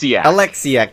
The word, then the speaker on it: Oleksiak: Now, how's her name pronounced? Penny Oleksiak, is it? Alexiak. That was my second guess.